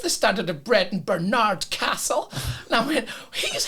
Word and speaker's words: Barnard: Now, do tell me, is it Barnard or Barnard? Because I think if it's posh round here, it must be Barnard.